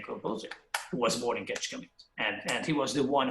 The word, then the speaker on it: Kecskemét: That's how he pronounced it. It's Kecskemét. And then Ira said, Kecskemét with pure Hungarian accent.